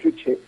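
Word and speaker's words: 주체: Bien, la filosofía Juche, pronunciado Juche, es básicamente el socialismo al estilo coreano.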